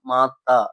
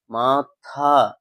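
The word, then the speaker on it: माथा: அம்மாவுக்கு என்ன ப்ரொனௌன்சியேஷன் அப்படின்னா மாத்தா இதுதான் அம்மாக்கு அம்மாவுக்குள்ள ப்ரொனௌன்சியேஷன் அதே இது நெற்றிக்குள்ள ப்ரொனௌன்சியேஷன் என்ன அப்படின்னா மாத்தா மாத்தா சோ அந்த ஹா ங்குற ப்ரொனௌன்சியேஷன் நீங்க சரியா உச்சரிக்க கத்துக்கோங்க ஏன்னா அந்த லெட்டர் நான் அப்படித்தான் கொடுத்திருக்கேன் மாத்தா சோ நீங்க அதை கரெக்ட்டா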